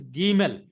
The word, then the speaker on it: Gimel: Then next alphabet is Gimel. That is G in gift.